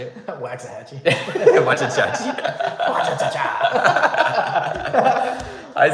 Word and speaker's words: Waxahachie: Wachachachi? How do you say it? Waxahachie.